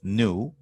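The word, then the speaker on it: ν: has this symbol it's new it's pronounced new it's the greek letter looks like a v but it's an n and it's the number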